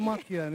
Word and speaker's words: Makian: Welcome, pronounce it for me. It's Makian.